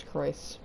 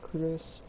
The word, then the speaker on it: Croyce: It's Croyce, not Cruz, like Kuru, which is beer.